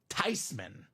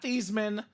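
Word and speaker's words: Theismann: exact words she said actually guys it's supposed to be pronounced tyman everyone had it wrong the whole way D not theeman not Theisman tyman so 83 NFL MVP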